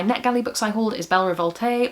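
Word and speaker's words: Belle Révolte: The last of my NetGalley books I hauled is Belle Revolte, or Belle Revolt. There's no accent on the end of that. Maybe I've been saying that wrong.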